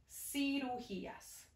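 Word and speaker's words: cirugías: spelled with an s this is spelled with a c but the word is sirujiyas okay do you smoke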